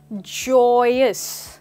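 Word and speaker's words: joyous: That's right दोस्तों, इसकी pronunciation पे ध्यान दीजिए, जॉय और अस, जॉयस। That's right. यहाँ पे जो वाई की साउंड है वो नहीं आ रही है, हम कह रहे हैं जॉयस।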